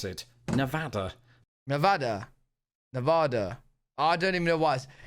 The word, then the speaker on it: Nevada: to the people of Nevada that I will pronounce it Nevada Nevada Nevada I don't even know what you